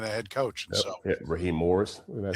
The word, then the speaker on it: Raheem Morris: And so, Raheem Morris.